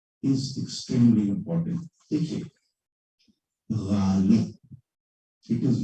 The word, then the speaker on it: Ghalib: देखिए, Galib, it is not Galib, it is not Galib, it is Galib. It's a guttural sound.